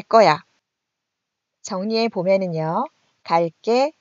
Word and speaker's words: 갈게: 정리해 보면은요, 갈게, 갈 거야. 관형사형 어미 을 뒤에서 된소리로 발음이 나고 있습니다.